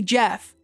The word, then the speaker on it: Gef: name Jack, call me Jeff," though he could only spell phonetically, so his name became Jeff with a soft G.